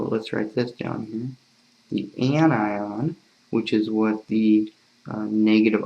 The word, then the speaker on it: anion: negative ion an anion people always mispronounce in an onion it's an anion again you know the